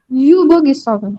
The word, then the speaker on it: übergezogen: Übergezogen. Übergezogen. Super. Also, die Vorsilbe. Betonung auf die Ja, Vorsilbe. übergezogen.